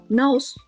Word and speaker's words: 直す: Naoru, naosu. Oh, exactly. The same pronunciation.